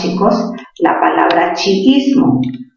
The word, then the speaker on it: chiismo: La palabra chiismo. A ver, recordemos, sería chi, luego viene is, y luego viene mo, chiismo. ¿Dónde tiene mayor fuerza de voz chiismo? En la sílaba is, ¿sí o no?